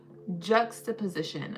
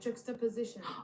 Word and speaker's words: juxtaposition: H juxiposition. Okay, I know I'm still pronouncing it wrong. So, let's pronounce together. Jux position. Oh, juxiposition. Okay.